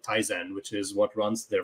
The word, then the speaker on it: Tizen: Is it spelled like Tyson, like T-Y? Tizen.